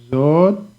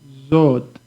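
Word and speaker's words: זאת: Zot is a taf at the end, so it sounds like a T.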